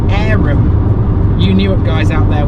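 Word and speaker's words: Averham: I believe Averam is actually pronounced Aram.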